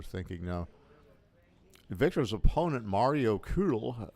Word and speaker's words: Kühl: Victor's opponent, Mario Kühl, if I'm pronouncing the German name right. The German native speaker says I did.